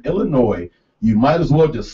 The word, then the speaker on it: Illinois: unless you're suffering stevens you do not pronounce the s in illinois you might as well just slap us in the face illinois illinois i don't think